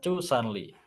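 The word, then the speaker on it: zusanli: titik ST 36 cusanli tulisannya zuanle bacanya chanle ini nanti akan ada videonya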